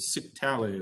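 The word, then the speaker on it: scytale: was actually called a cyctale it rhymes with italy so it's a sick tally as what it would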